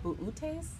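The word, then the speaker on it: Boötes: That's I pronounce it boots, but I've heard it called buutes. Don't know.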